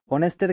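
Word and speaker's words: honest: অফ the above অনেস্ট অনেস্টের ক্ষেত্রে আমরা দেখছি যে এইচ কি হচ্ছে সাইলেন্ট থেকে যাচ্ছে এবং অনেস্ট উচ্চারিত হচ্ছে অ চলে আসছে তো এইচ এর জায়গায় আমাদের অ চলে আসছে অর্থাৎ ভাওয়েল সাউন্ড প্রডিউস হচ্ছে যার কারণে আমাদের সঠিক উত্তর হবে এন অনেস্ট।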